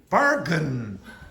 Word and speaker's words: bargain: Now again, because this is very weak, this part is very weak, you don't pronounce it very strongly. So you wouldn't say bargain.